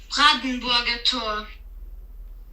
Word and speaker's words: Brandenburger Tor: Brandenburger Tor.